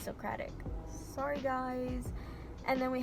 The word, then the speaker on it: Socratic: I think I pronounced it wrong in my other video. I would always say Socratic. I don't know why. It's Socratic.